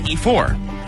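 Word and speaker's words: Ifor: you're going to hear that is spelled i f o r we both agree that we'd say e4 so she's like e4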